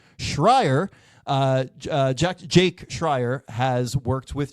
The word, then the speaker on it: Schreier: And they are joined by director Jack Scherer. I'm going to pronounce that name correctly. Schreier.